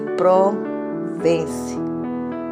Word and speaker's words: Provence: excursão excursionismo pela província é de Provence pronuncia-se Provence no sul da França em 1913 e quando fazem